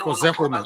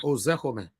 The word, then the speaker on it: Ozekome: Can you help me pronounce that name, please? Mike Ozekome. Ozekome.